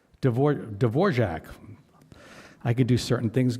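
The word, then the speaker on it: Dvořák: listening to some beautiful D'vor to a beautiful D'vorc symphony. D'vor D'vorjac. I can do certain things good pronunciation.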